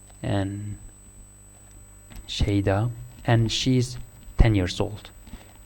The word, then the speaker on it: شیدا: So now you learn how to pronounce this. Shayda. And Shayda.